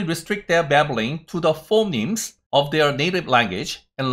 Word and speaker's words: phoneme: phoneme은 phoneme 이렇게 발음을 하시는 겁니다. 그래서 phoneme 이렇게 발음을 하시면 됩니다.